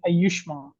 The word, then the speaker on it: Ayushman: We are happy to have Ayushman from the Hable One joining us this morning for a presentation. And Ayushman, please correct me in the pronunciation of your name? You could say Ayushman. Ayushman.